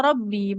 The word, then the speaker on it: رب: إذ قا إذ قالت امرأة عمران ربي إني نذر Rabbi, di kata Robbi, ba kasro di depannya tidak ada huruf ya, jangan dipanjangkan Ibu.